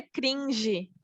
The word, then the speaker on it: cringe: Não é gringe? Fala aí o jeito, tem um nome, o jeito certo de falar. Professora, é cringe.